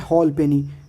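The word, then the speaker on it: halfpenny: कब साइलेंट होता है, तो एक ही वर्ड है जहाँ पे एफ साइलेंट होता है, वो है हॉल पेनी।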